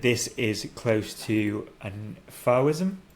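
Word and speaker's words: Fauvism: I said that this is close to an Fism. Fism. Fism. How do you spell it?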